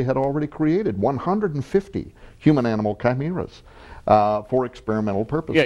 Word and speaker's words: chimera: already created 150 human-animal chimeras for experimental purposes. Yeah, you mentioned chimera or chimera. It's pronounced various ways, but the chimera is seen in the ancient world.